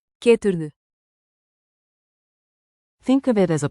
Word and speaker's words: Geturðu: Keep a rising question tone on the last syllable.